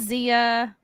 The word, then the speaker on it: Xia: And Zia. You can find me at Zia or. It's spelled XIA_land on Twitter and Instagram, and then everywhere else.